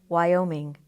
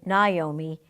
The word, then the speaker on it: Naomi: School who used to call me Wyoming I never had the heart to correct her plenty of people called me Naomi even though it is